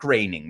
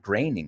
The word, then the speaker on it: Groening: Well, Mac Groening. Maybe it's The Simpsons. We're talking about Mac Groening because it pronuncia Groening.